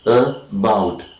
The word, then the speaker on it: about: The discussion about, and the second syllable is articulated with more force, and we say that this syllable is more important than the first syllable, and the primary stress